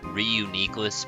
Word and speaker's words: Reuniclus: according to the anime, Reuniclus. I hear False Swipe Gaming say Reuniclus, and I think that sounds a lot nicer and smoother, but Reuniclus because nucleus, so that's the way it is.